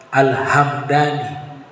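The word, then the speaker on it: الهمداني: gobila dan cara bacanya kalau yang suku huruf mimnya di suukun alhamdani bukan Al alhamadani alhamdani kalau nisbatnya nama tempat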